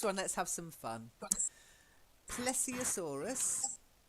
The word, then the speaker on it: Plesiosaurus: Plesiosaurus. Plesiosaurus.